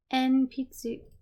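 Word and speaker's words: 鉛筆: En-pitsu.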